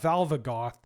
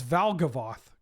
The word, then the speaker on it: Valgavoth: It's Vaglavoth. Definitely not Valvagoth. Wait, are you sure? Did I get Berenstain Bears? It's Valgavoth.